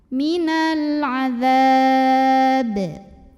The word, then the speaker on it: مِنَ الْعَذَابِ: Ba-nya ini jika berhenti jadi sukun dan dihukumi qalqalah kubra karena ada huruf qalqalah yaitu ba yang sukunnya ini disukunkan, sukun karena berhenti ya. Maka dibacanya memantul dengan pantulan yang besar.